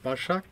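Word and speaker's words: Başak: Okay, today I'm for an interview at Sailing Istanbul with, I'm really hard with pronouncing Turkish names, so Basak.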